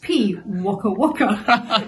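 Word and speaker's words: pīwakawaka: this bird is P oh pronounced P waa Waka it has a marry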